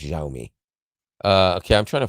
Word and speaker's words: Xiaomi: how you pronounce that yeah it's pronounced xiaomi uh okay I'm trying